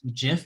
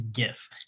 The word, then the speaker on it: GIF: i don't know well from the 23 second gif thing that we solved yeah this is the most offensive part of the video leave your opinions in the comments below but it is not jif it is gif jif is a peanut butter so well hey